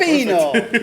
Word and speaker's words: Pepino: No, Pepino is Actually, correct. Pepino. Yeah, most people don't actually say it right, so.